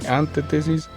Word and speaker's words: antítesis: Hay que tener mucho cuidado con la pronunciación. No es antítesis, ¿sí?, ni antítesis, es antítesis.